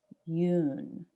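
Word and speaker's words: Yeun: so we don't so it says stephen yoon like if you were to say the word moon but with a y instead you you oh they'll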